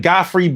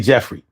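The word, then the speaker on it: Geoffrey: He was like, "Goffrey bean? The gray flannel cologne. It smell good." And I was like, "That say Jeffrey."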